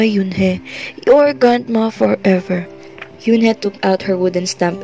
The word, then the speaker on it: Yoon: he asked her with his eyes open wide yoon he looked quickly at mr kim then turned